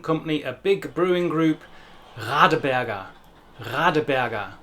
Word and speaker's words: Radeberger: a big brewing group, Radeberger. Radeberger. The standard German R sound is a very unusual but a wonderful sound that does indeed come